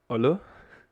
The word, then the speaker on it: Eule: Like you don't say Eule, but you say Eule. This is actually the accentuation of the word where you have to pronounce it most strongly. Here, in this case, in the beginning.